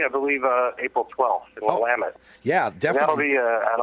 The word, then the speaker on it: Willamette: I think I've got Portland, Oregon, or I always forget how to pronounce it. Willamette. Willamette.